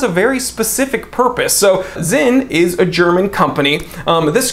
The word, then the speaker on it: Sinn: Starting with Zinn or Sinn. I don't care how you pronounce it, S-I-N-N. I'm just gonna go ahead and say sign because people will get upset regardless of how I choose to pronounce it.